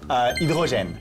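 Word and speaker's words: hydrogène: 수소 불어로는 뭐라고 합니까? 이드로젠. 와. 영어도 하이드로젠이잖아요. 하이드로젠. 자, 불어로 이드로젠.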